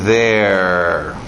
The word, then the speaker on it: they're: They are ficando their. Sim, a mesma pronúncia de there e também de there.